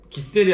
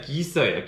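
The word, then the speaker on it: Giesser: 그래서 이제 참가한 모든 사람들한테 선물로 준 칼인데 이거를 독일 메이커인데 한국 분들은 이걸 기셀이라고 하시더라고요. 근데 이제 독일어는 기셀이 아니라 기서예요. 기서.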